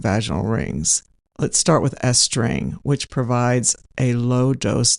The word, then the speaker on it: Estring: Let's start with estring which provides a lowd dose delivery. Estring, which is spelled E S T R I N G,